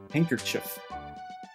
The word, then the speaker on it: handkerchief: Handkerchief. Handkerchief. That's what they say. It's handkerchief. Obviously, the D is silent.